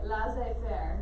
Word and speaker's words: laissez-faire: So lazy fairy.